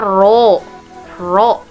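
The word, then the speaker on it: ρ: massa jenis massa jenis ini bukan p disebutnya dibacanya rok-rok ya kemudian yang atas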